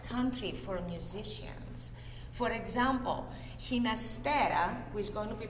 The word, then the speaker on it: Ginastera: So Ginastera actually preferred his name to be pronounced not with the Spanish pronunciation Ginastera, but Ginastera with a G like George to reflect his Italian heritage.